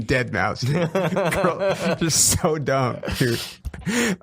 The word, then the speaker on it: Deadmau5: like I don't even know what he DJs, but like I can tell you that he pronounces it fucking dead mouse.